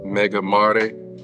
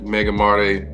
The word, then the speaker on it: Mega Mare: And I believe that is the way that it is pronounced, Mega Mare.